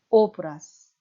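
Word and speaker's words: obraz: 오브라즈가 유성자음 z가 마지막 자음으로 나와서 z의 짝인 무성은 스 발음이 나는 것입니다. 오브라스.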